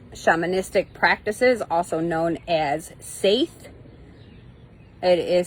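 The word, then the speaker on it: seiðr: rediscovering northern Europe shamanistic practices also known as saith it is spelled SE DH but pronounced Sai in a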